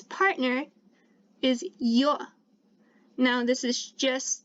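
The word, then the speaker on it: ё: means he one one and its partner is yo now this is just like the letter yeah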